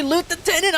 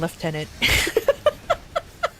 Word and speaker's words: lieutenant: I don't understand lieutenant. Take me with you, I want to loot wee. It's a French word that went over to the English and kept the spelling but not the pronunciation.